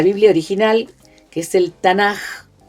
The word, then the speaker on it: Tanaj: acrónimo, justamente el acrónimo Tanaj, que son la Torá, ahí está, nomás, el Nevi'im, y el Ketuvim, que se escribe, podría ser o KH, pero se pronuncia como una J suave.